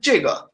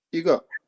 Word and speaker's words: 一个: It sounds like you're saying 这个. It's 一个. 一个. Yeah. 我有一个勺子. 我有一个勺子. 三个字. 一个勺子. Yeah, I do that a lot, I think. 我有 You do what? 一个勺子.